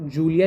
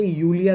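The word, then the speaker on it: Julia: जब स्पेल करेंगे तो उ नॉट जूलिया नहीं कहेंगे उसे यूलिया कहेंगे कभी भी जर्मन में जे को जे नहीं बोलते जे को या बोलते हैं वाई की तरह साउंड होता है या यूलिया तो इट्स और इसको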